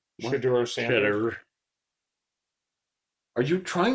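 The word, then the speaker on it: Shedeur: Shador. Yeah, probably. His son's getting drafted this year. So he's going to drop Scoot. You said his name? Shador Sanders.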